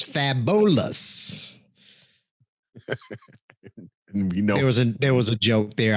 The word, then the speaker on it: Fabolous: that's the cafeteria um fabulous turned 43 i say that that way because that is how it is spelled i think he is not fabulous he is fabolous there was a joke